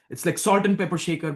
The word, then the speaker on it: Shekar: Yeah, it's like Shekhar, Shekar, but it's not, it's like salt and pepper shaker, but it's Shekar is how it's phonetically written.